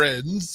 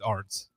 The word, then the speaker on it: Arens: It is pronounced Arens. It is Arens. If you actually want to pronounce it correctly, right. If you want to go with German, then it's Arens.